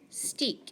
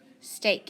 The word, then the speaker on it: steak: That's right. Long A. Sta-ake. Steak.